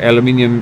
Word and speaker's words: aluminium: and we got aluminum aluminum or aluminium as the Brits say I like that I